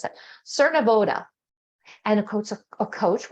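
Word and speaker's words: Cernavodă: off the ship in Cernav, how do I pronounce that? Cernoda.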